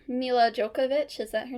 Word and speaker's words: Jovovich: um what's her name mil jokovic is that her name I think it's Jovovich because I was trying to figure out how to pronounce it after like she posted